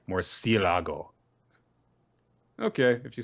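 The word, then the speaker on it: murciélago: All in good fun, guys, but seriously, it's pronounced more like Murcielago.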